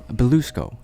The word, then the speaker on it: Bilousko: How do you say it? Bilousko? Bilousko. I forgot an L.